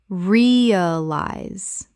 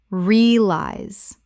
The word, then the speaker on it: realize: Realize. Correct pronunciation. Realize. 2 syllables in natural speech. The middle syllable collapses entirely.